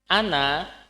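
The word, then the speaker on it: أنا: mudarisi saya putranya guru Ana tulisannya memang seperti itu Ana ada kayak ada panjangnya Tapi itu tidak dibaca ya tulisan Ana itu pakai Alif tapi itu enggak dibaca panjang ya tidak dibaca panjang Ana bnul mudarisi ada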